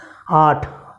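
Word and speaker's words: आठ: சாத் சாத் என்று சொல்லணும் எட்டாம் நம்பருக்கு 8 என்கிறதை ஆட் ஆட் ஆட் என்று சொல்லணும் 9க்கு நவ் 9 நவ்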